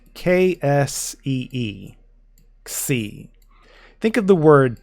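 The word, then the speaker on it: ξ: up with C so try to say taxi without the T in the a and that's how you pronounce this letter now even though this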